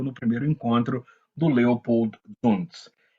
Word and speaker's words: Zunz: Corrigiram, inclusive, a minha pronúncia, né, na primeira aula. Então, Leopold Zunz, que foi um nome importante, o nome da